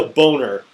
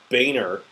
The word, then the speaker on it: Boehner: fault it's straight up his fault he's a boner I don't know why people are calling him Boehner his name is always said that it's pronounced